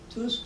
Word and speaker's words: Tusk: Just before the crash, there was a very important meeting of Prime Minister Tusk of Poland, pronounced Tusk in Polish, the head of the Civic Platform Party, which is a sort of middle conservative liberal party, and President Putin.